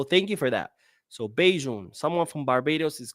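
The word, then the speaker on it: Bajan: It's pronounced Beijing. All right. What you call someone from Barbados. Oh, that's pretty cool. I had no idea. So thank you for that. So Beijing.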